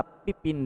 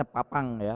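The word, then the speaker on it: Pépin: antara paus dan raja Pipin dari Perancis ini kalau bacanya Papang kau ini ya kalau dalam bahasa Perancis Papang bacanya tapi saya baca bahasa biasa aja berlanjut terjadi aliansi antara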